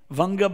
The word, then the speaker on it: Vanga: Vanga became Banga by pronunciation, and the British said Bengal. It's Vanga.